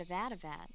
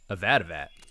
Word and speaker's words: Avadavat: I see you've caught yourself a red Avadavat. Avadavat.